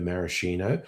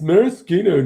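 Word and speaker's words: maraschino: Since I started doing cocktail um videos, I have deliberately been pronouncing maroscino marishino because I'm trying to piss people off. And I haven't I have yet to get a comment like it's Marosino, not Marishino.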